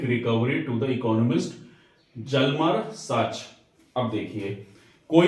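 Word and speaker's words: Hjalmar: दी जिसका नाम था जलम सचेत तो एच साइलेंट होता है इसमें और हिटलर का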